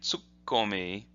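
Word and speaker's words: 突込み: And by the way, I've added the mi at the end to emphasize that it's pronounced komi. So here we say tsukomi, knowing that that little tsu character is there.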